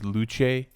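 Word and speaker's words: Luce: anim little anime girl mascot named apparently the pronunciation is luche which is Italian not Italian got to see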